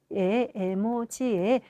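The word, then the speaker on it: 絵文字: 우리가 흔히 이모지라고 했던게 어, 에모지의 에모지의 영어식 발음이었다 하는 걸 알게 되었죠.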